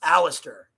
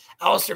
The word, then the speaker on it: Aleister: It rhymes in terms of its assonance.